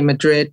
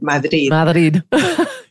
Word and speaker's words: Madrid: am from Madrid and I shouldn't say Madrid because that's an I'm saying that with an English accent I should say Madrid yeah yeah she said